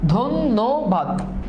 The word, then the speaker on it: ধন্যবাদ: ধন্যবাদ। জয় ধ্বনি এখানে দেখো ধ এর উচ্চারণ দুইবার হচ্ছে জয়দ ধ্বনি এটা একটু খেয়াল